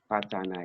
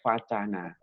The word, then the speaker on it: vacana: Kalau kita lihat dari bahasa, dari segi bahasa, bahwa wacana awalnya ini dari kata vacana dengan V ya, dengan V, vacana. Itu diambilkan dari mana? Diambilkan dari bahasa Sanskerta, pakai V, bacanya vacana.